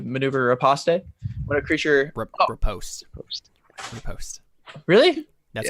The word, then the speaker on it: riposte: Riposte. Post. Riposte. Really? That's how you Yes.